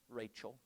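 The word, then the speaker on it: רחל: Rachel, right?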